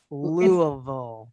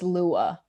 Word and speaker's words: Louisville: I was gonna say Louisville, but I say like Louis, but Shelby's been saying like Louisville. It's Lua. Like with like an A.